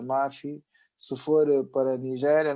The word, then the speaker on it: Maffy: a África do Sul, seja pronunciada Mafi.